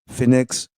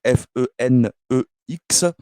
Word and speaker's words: fenex: i r o u fenex attaché donc F e n e x comme FedEx donc fenex pour le